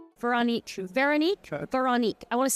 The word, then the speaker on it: Veronique: Veronique. I want to say it right. Veronique. Yeah. I clearly don't have a French accent. You could do Veronique.